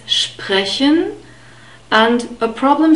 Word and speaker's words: sprechen: We have the sh sound and the P, as you can see in the phonetic script. In brackets, SP is always pronounced SP at the beginning of a word. So it's sprechen.